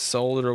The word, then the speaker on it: solder: to be nice and pronounced solder with the ELL that doesn't belong there but if you say it belongs there it's okay wouldn't want to hurt your feelings now let's get started